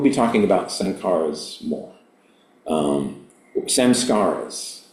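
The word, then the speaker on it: saṃskāras: Samskaras, I guess, is the Mahayana Sanskrit pronunciation.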